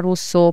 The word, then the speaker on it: Russo: So Instagram is Russo Property, pronounced at the Italian way, or LinkedIn is Russo.